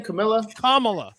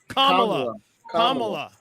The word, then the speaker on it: Kamala: first of all Kamala how you say her name Camila kamla it's stor don't feel bad took me six years to get that the name right so hey what's up